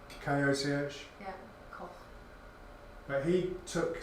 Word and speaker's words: Koch: One of the scientists in it was a German scientist called, I don't know how to say this, Koch, K-O-C-H.